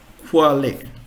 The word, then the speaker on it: Quale: Q is pronunciation as Ku. So if you consider the English word quiz, so roll up Q in the English word quiz is equivalent to this Ku. So German word Quale, Quale.